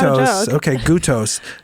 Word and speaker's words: Goutos: These days, I'm going by Kay, and it is pronounced Goutos, but I'm going to go ahead and forgive you.